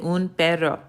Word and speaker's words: un perro: Yep, you had it right. You said un perro. So, un perro is how you say a dog. Now, let's take it a step further.